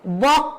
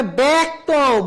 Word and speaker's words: ব্যক্ত: যেমন বয় জফলা কয়তয়, বক্ত হবে না, হবে ব্যক্ত, ব না বে, বে এ উচ্চারণ হবে।